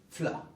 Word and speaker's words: fela: Pues bien, fela se dice fla.